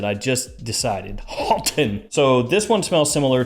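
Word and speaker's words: Haltane: to Niche with parfum's Marley's Halton yeah that's the correct way to pronounce it I just decided Alton so this one smells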